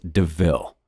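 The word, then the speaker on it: De Ville: a panther deville and points out the similarity to the word devil though it's pronounced deville estella quite likes the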